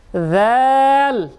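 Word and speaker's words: ذال: আবার বলি, এই হরফের উচ্চারণ আমরা বলেছিলাম পাতলা করে, জিব্বার আগা দাঁতের আগা নরম আওয়াজ, কম বেশি টান না। যাল জাজিজু জাজিজু হরফের উচ্চারণ।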